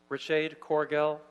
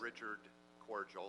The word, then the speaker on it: Richard Corgel: Richade Corgel, Aaliyah Thompson, Carolyn Hennessy. Yes, sir, please identify yourself. Yes, first I'd like to correct the pronunciation of my name. Yes. It's Richard Corgel.